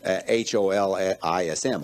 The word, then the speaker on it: holism: And that's, we pronounce it H-O-L-I-S-M, holism, but that's just because it's too hard to say holism. It doesn't mean it's got a hole in it.